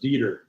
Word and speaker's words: Dieter: It was a strong 2-syllable German name. Thus, it was pronounced with the long E sound. He freaking hated it when somebody read his name for the first time and put the emphasis on the wrong syllable, or worse, asked if he was committed to dieting.